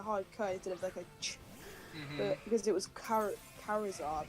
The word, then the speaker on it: Charizard: this thing that's a fire lizard how about Charizard have you seen do you know True Green